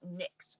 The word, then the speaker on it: NYX: going back and forth and they're like it's nixed by the way like and I see Kay ice is like how you pronounce it I was like I never knew